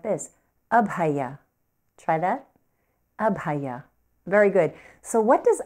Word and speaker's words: Abhaya: focusing on is pronounced up hiya can you say that up high yeah so you don't want to accent anywhere sometimes I hear students say ab hiya and they'll accent on